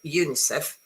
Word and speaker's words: UNICEF: And then this word, United Nations Children's Fund, is pronounced as a single word or by pronouncing each letter individually.